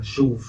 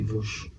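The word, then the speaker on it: Veauche: Toute la conversation, on m'a dit, mais Charles, c'est pas chauve, c'est Vauche.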